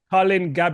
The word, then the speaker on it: Gabay: Colin Gab, correct? Gab is the correct pronouncing. That's correct. Colin Gab.